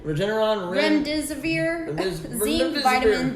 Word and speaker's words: Regeneron: yesterday i think how you say it uh regeneron regeneron rem deserver vitamin d uh famotidine melatonin aspirin